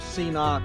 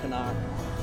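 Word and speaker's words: CNOC: I've heard people call it a C-knock. I've heard people call it a Canuck. I think when I went on their website, they pronounced it Canuck.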